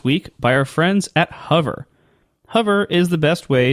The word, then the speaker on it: Hover: supposed to pronounce it you're saying it right I don't know what they were said you pronounce it Like H am I supposed to say hover no you're not it's hover I I maybe it's because you emphasize the the u sound I don't know just keep just keep saying hover it's fine yeah you pronounce something's